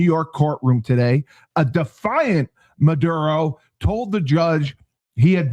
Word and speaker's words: Maduro: capture of President Nicolas Maduro Did I say it right? You did.